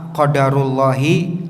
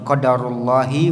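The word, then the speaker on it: قدر الله: Yang pertama qadarullahi wa ma syaa fa'al. Ya, tanpa ditasydid dalnya, dengan di kasroh lafzul jalalahnya, Allahi, qadarullahi wa ma syaa fa'al. Cara yang kedua pengucapannya adalah qadarallahu wa ma syaa fa'al,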